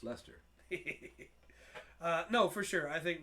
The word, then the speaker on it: Leicester: It's spelled Leicester. Yeah. But no, it's Leicester.